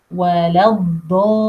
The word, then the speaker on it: الضالين: lam with a shadda the common mistake with word الضالين to say الضالين without the shadda. And the reason for all these 6 beats elongation is the shadda. To say is with shadda and pronounce اللام twice. لام ساكنة and لام بكسرة.